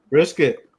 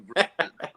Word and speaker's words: Brissett: Brisket. Oh, my fault. Damn, you're right. It is Jacoby Brissett.